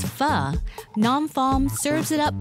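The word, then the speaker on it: phở: WRITTEN AS PHO, BUT PRONOUNCED AS FUH, NAM PHOUNG SERVES IT UP BY THE BOWL FULL.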